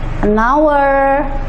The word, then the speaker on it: hour: Karena walaupun tulisan huruf di depannya adalah huruf mati atau konsonan, tapi pengucapannya adalah huruf hidup. Misalnya air. Ini ya, our.